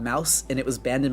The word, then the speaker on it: Maus: And also, where can one read Mouse? So it's spelled as Maus.